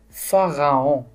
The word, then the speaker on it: pharaon: Pharaon, pharaon. Donc, on ne voit pas la lettre F, mais on entend le son F. Le P et H, il se prononce un F.